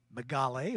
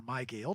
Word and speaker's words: Mygale: In the F16 class for the 1600 Formula Fords, Ethan Tovo in the number 13A Megale, or Mygale, depending on how you want to pronounce it, Formula F over Jackson Tovo in the similar number 031.